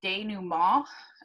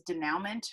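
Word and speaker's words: dénouement: again that word is day new mall it's a french word i know it looks like it reads denouement but uh it is not pronounced that way um so what i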